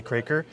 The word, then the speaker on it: Kroeker: a part where I teach Angel how to pronounce my last name for the record it's crer so here's Angel her channel is Red Rider